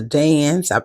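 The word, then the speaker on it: DAZN: you if you've watched a fight on the dance it's spelled D A Z N um it generally the um it's more reliable.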